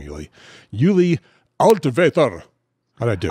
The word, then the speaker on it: Altvater: Let me see if I can how good a job I can do with the German pronunciation of your name, Uli. Uli Altvater. How'd I do? Altvater, yeah, pretty close.